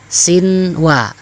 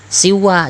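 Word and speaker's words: صنوان: Sinwa tetap dibaca sinwa, jangan siwa, jangan kamu tasydidkan, nggak boleh.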